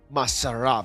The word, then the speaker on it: Masar: It's more like Masar. Masar.